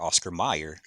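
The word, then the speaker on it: Oscar Mayer: Or excuse me, it's pronounced Meyer, Oscar Meyer, but it's spelled like John Mayer.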